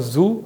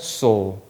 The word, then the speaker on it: zoo: to the pronunciation of zoo. In Spanish, it's so. Although it's written the same way in English, it's not pronounced as zoo or sue. It is pronounced as so.